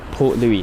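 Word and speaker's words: Port Louis: yeah Captain Liam saying the s in Port Louie is silent so uh Port Louie I think that is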